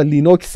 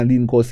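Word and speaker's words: Linux: پارسا به من گفتن بابا لینوکس چیز دیگری نیست نگو مثلاً لینکس یا هر چیز دیگری منتها من لینوکس اشتباه تلفظ کردم ولی یه داستانی که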